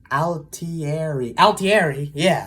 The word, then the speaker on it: Altieri: Altieri.